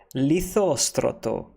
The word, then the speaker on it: Lysistrata: toe toe toe toe why do you get the are on the end there there is no